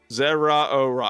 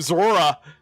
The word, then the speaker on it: Zeraora: I got to actually I actually got to I got to actually pra practice that pronunciation cuz I've been calling him Zora. He is fast. He is fast. I've been pronouncing Zora.